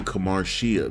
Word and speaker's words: Kamarshea: you now have unlock the lady Kamar lady kamaria there we go that that's how you say